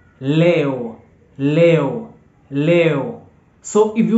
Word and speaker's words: leo: want to say today today in Swahili is Leo Leo Leo Leo so if you want to say